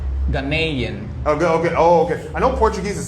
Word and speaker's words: Ghanaian: Yeah, you say Ghanaian and I say Ghanaian. Yeah, you're saying it like the North American way.